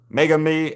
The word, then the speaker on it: Megumi: Meg u Megumi Megumi.